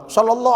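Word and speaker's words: صلى الله: dirubah Pak itu aturannya bismillah Shallallahu Ala Muhammad bukan salah Sallallahu ala Muhammad tapi salah menempatkan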